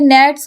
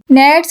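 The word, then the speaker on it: gnats: हमने पढ़ा था कि नेट्स आर मॉर्निंग। नेट्स कहते हैं इंसेक्ट्स को। वैसे तो जी एन ए टी एस है लेकिन जी जो है यहां पे साइलेंट है।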